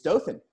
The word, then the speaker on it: Dothan: does how do how do native do--the onehans pronounced Dothan its Dothan yeah well we're down there with the southern